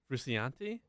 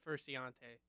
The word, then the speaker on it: Frusciante: Frusciante? No, I think it's Versace. Versace. Versace. Isn't it Frusciante? Oh, no. It's definitely not Furciante.